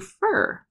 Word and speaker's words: for: For lunch is getting reduced down to fur. Okay, but if I just say fur by itself like that, it sounds weird.